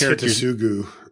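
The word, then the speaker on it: Hidetsugu: I forget how to pronounce this. It's Hitasugu. Hitasugu's Second Right, Elvish Visionary, Fauna Shaman, Imperious Perfect, Burning Tree Emissary, Captain Sisay, Ornithopter, Mindstone, and Darksteel Reactor.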